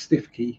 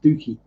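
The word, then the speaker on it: Stiffkey: there was stooky yeah it's not pronounced stiffy it's pronounced stooky and there's all sorts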